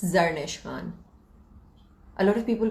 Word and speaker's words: Zarnish: Please pronounce your name. It's Zarnish Khan. A lot of people call it Zarnish, and that pisses me off. But it's Zarnish Khan.